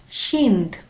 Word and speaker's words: kind: এই ওয়ার্ডটা সেটা হচ্ছে KIND, যেটাকে সুইডিশে আমরা উচ্চারণ বা প্রোনাউন্স করি কাইন্ড, কাইন্ড, কিন্তু সুইডিশে এটার উচ্চারণ হচ্ছে শিন্দ, শিন্দ, KIND, শিন্দ।